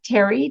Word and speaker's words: Terre: find me at LinkedIn my name is spelled differently so it's Terry t-e-r-r-e and so